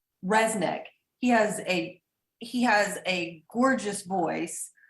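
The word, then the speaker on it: Rzeznik: Resnick.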